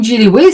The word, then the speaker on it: Jinrihoe: Alors desun Jiliway c'est donc ça se prononce jillyw parce que le R les Coréens n'ont pas de R, c'est un son entre le R et le L.